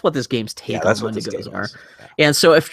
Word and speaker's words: Wendigo: Wendangos. Wendigos. I think they pronounce it Wendigos in the.